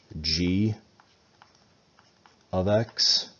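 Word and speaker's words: g(x): This is pronounced g of x.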